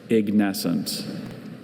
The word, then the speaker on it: ignescent: Ignescent.